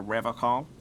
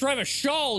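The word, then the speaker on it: Revachol: Oh, I've been tempted, but someone has to stay strong for Riverall. It's Rever Shaw, you uncultured He pronounces Revaccom with a hard K.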